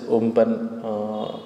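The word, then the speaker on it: Amphan: ஸோ இப்போ super cyclones bay ஆஃப் பெங்காலில் உருவாகிறதுக்கான மெயின் reason, so cyclone அம்பன் actually. So pronounce is உம்பன்.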